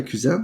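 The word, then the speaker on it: Quzen: Puis, si on bouge par dans le fond, la plateforme médicale là, que vous avez créée, tu me dirais si je prononce bien la cuisine, c'est ça?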